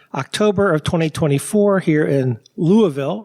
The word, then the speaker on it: Louisville: of 2024 here in Louisville right is it it's not Louisville I know that it's Louisville yeah it's like two syllables not louville sorry thank you I'm here